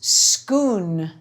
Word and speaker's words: Scone: say scone they're actually named after the town in Scotland where ancient Kings received their coronation which is schoon so it's it's possible